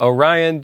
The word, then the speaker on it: Orion: Orion just so happens to rhyme with horizon, and that's the story I chose, and look how it worked out.